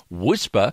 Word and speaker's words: WSPR: whisper transmitter in zl wspr pronounced whisper stands for weak signal propagation reporter the whisper transmitter custom